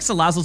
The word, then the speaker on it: Salazzle: Because I feel like Salazzle's a big frap enjoyer. That's how you say it, right? I know it's got the E, but it's more like a silent E.